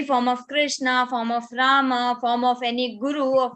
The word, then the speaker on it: Rama: popular from Hindi language in Hindi language we say Ram but that is not half in Sanskrit if you pronounce it correctly so that is Rama Ma has are included it is included that's why in English when we pronounce that a little bit English accent also and second that is correct correct is Arjuna and Rama that is only that